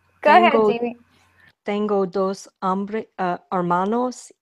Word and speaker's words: hermanos: Yo no tengo hermanos. Perfect. Excellent pronunciation. Nice. Spanish H is silent like French.